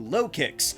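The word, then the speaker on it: Lokix: However, it then evolves to Lowkicks, which sounds like locusts, but also low kick, and a cheap shot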